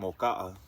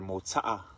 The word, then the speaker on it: Mota'a: She's from Moka'a, or Mota'a, to say it right.